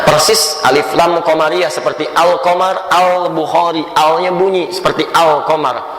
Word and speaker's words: al-qamar: Alif lam qamariyah, ada huruf-huruf alif lam yang menyatu dengan huruf tertentu, kalimat tertentu yang dibacanya seperti membaca al-qamar.